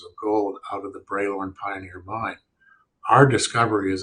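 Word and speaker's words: Bralorne: other gold systems in the was it the broad loan Pioneer gold mining cap in terms of highest grade yeah sorry um that that's braylorn is the way we pronounce it everybody pronounces it differently but it's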